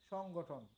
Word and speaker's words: সংগঠন: বা সংঘ, ওইটা হলো সংগঠন। আর এখানে হলো সংঘটন, দুটার উচ্চারণ কিন্তু 2 রকম।